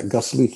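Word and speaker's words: Gasselich: You have Hans Galge in goal, you have Van Basten, Boev, a young Johnny Bozeman, Austrian Felix Gaslich, I believe it's pronounced. Yeah, Gaslich, yeah.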